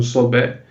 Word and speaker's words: Sobek: Se escreve Sobek com K, né, no final, se pronunciando Sobé, que é o deus crocodilo, né?